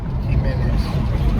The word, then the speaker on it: Jimenez: Abby gimnez your um I always say gimz it's not it's Joe how it's How do you say Jay in Spanish you don't actually say the Jay Jimenez himene there you go Joe just said I